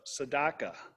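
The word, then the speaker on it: tzedakah: all the concept of sadaka and I I learned how to pronounce that word but I remember Neil Sedaka if you're old enough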